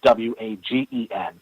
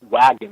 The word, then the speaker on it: Wagen: it's wagon, with a W-A-G-E-N. And he vividly remembers it being wagon, Volkswagen. My whole problem is that I used to own a Volkswagen. It's a German word. It's always been Wagen, not wagon, how this guy remembers it.